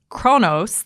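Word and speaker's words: Kronos: list number 5 is Chronos that's how it's pronounced in English it's actually unpronounceable in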